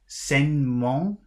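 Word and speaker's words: sainement: does so we have senmong which is s-a-i-n-e-m-e-n-t but that middle e s e s a i n e that e is not pronounced it's crossed out so that should be sen mon let's hear senmo okay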